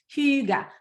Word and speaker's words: hygge: and she was like it's not hygge it's huge well for me it's